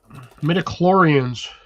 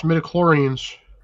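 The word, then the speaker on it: midi-chlorians: Metaclorans. What the heck is he talking about? Star Wars. Some I think he's mispronouncing Star Wars things. No, that's mediclorans.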